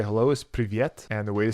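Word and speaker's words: привет: And the way to say hello is privyet. And the way to say goodbye is paka. So I'm going to think of when I get that bottle in a VIP room, it's very private. Privyet, right?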